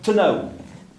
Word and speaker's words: Tnao: Hein, tnao. Alors, c'est pas très facile à lire. Tnao, donc T-N, en début de mot, c'est pas évident. Et ce mot a évolué pour qu'il soit plus facile à prononcer.